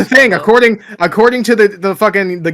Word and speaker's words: scuba: Scubba. According to the fucking the GIF guys, that's how you're supposed to pronounce scuba.